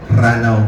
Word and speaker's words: Ranaw: actually a place called lanao sa mga mapa natin lanao dels Norte pero dahil hindi ganon yung pagkakabigkas nila doon ranaw po ang ano titolo niya right